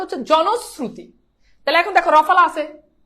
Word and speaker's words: জনশ্রুতি: আবার বলছি এটার উচ্চারণ জনস, জনস, তারপর কি শ্রু, তারপর হচ্ছে তি, জনশ্রুতি, জনশ্রুতি।